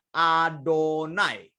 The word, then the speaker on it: YHWH: Kita membacanya Adonai.